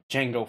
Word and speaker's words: Kjango: It's your boy, Kjango. If you didn't know, the K is silent.